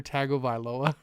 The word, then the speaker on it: Tagovailoa: been my pick but yeah it's hard Mr tagovailoa that's how you pronounce it or how many weeks Dr Fang